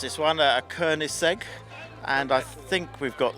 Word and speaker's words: Koenigsegg: I never know how to pronounce it though. It's a Koenigsegg.